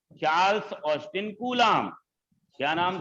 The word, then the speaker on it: Coulomb: कूलाम। कूलाम। Spelling ध्यान देना, COULOMB। क्या लिखा है स्पेलिंग कूलाम का? COULOMB, कूलाम।